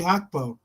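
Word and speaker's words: Gakpo: And it brought up Cody Hugbo. That's how you pronounce it.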